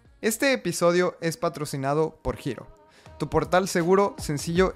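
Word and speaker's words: Hiro: para conocer más este episodio es patrocinado por giro tu portal seguro sencillo y entendible en la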